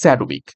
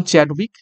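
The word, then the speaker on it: Chadwick: উত্তর হয়ে যাবে অপশন স্যাডউইক একচুয়ালি নাম চ্যাডউইক ঠিক আছে চ্যাড উইক তো সেটার উচ্চারণ অনেক সময় স্যাডউইক হয়ে থাকে তো দেখো কিছু গুরুত্বপূর্ণ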